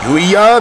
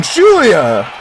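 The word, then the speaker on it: Giulia: That is not how you say her fucking name. The slept-on Gulia or Julia. Stop pronouncing the G. Stop pronouncing the G. Pronounce the G as a J. The slept-on Julia.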